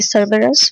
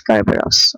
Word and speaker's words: Cerberus: Okay, then it is spelled as Cerberus. Okay, Cerberus, we take it as Kerberos.